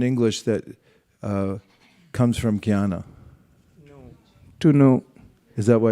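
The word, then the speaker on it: jñāna: a word in English that uh comes from Kiana to know is that why it spelled so funny yes as John everyone looks at janana and they look at no if you don't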